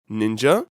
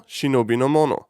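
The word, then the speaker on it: 忍者: 2 characters, Endure or Hide, and Person, which can be read in 2 different ways. Ninja, by far the dominant one, likely for Western audience pronunciation reasons, or Shinobi no Mono, in short Shinobi, which had been until the 1950s the clear standard reading. Doesn't mean that ninja is wrong, both readings are legitimate, but that ninja in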